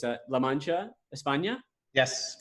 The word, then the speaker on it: La Mancha: started the business in 1954 I hope I'm pronouncing this correctly it's a La Mancha espana yes correct awesome so and I love